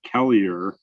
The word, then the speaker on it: Kelleher: the minnesota historical society or i guess as you would say in this region of the state kellier because there's a town up by red lake and they pronounce it kellier so it always cracks me up when people from that part of the state call me kellyer anyway i'm with the